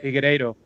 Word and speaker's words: Figueiredo: Figueiredo.